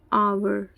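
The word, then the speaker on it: hour: यहां पर ए आएगा आवर आवर किससे स्टार्ट हो है अ से तो यहां पर एन आवर लिखना यूरोपियन दोस्तों पीछे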